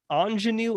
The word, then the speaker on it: Aunjanue: I have a wonderful woman named I believe is how you say her name, Ingenue Ellis.